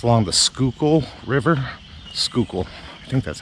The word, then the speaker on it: Schuylkill: uh on the screen it doesn't sound like anything like it's spelled school i think that's how the locals say it so the schuylkill rivers